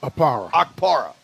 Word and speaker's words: Okpara: The kid, is it Akrapa? Am I saying that right? I'd like to say it right. I have it here. Felix Okpara. Okpara.